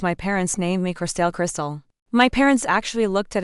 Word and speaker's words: Corstell: Then they'd attempt some butchered pronunciation like or. I'd have to raise my hand and say, "It's just Crystal."